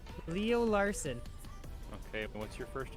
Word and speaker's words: Larson: But I don't want it to pronounce son. It's just Larson.